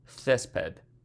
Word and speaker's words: césped: Césped. Césped. Accent on the first E.